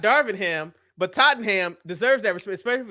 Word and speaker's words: Tottenham: when you say that don't pronounce it as the ham it's just Tottenham oh Tottenham that that's